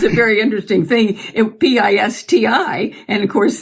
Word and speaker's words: Pisti: Pisti. And of course, it was pronounced, when he went to school, the teacher pronounced it Pisti.